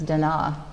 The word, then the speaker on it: Da Na: is Alana Thompson palette exposure and here at Dona estates actually the most correct pronunciation is Dena and we'll talk about it in a little